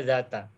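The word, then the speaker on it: ذات: Makanya bacanya zata. Jadi apabila Bapak Ibu ingin menyampaikan makna suatu hari, itu gunakan kata zata.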